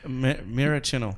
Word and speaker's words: Maraschino: I can never pronounce it. Maraschino.